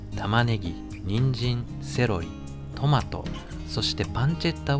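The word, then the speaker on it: pancetta: そしてパンチェッタはパンチェッタちなみにパンツェッタと発音するとジロラもかよと突っ込みが来ますので発音はパンチェッタで大丈夫ですパンチェッタはトリタート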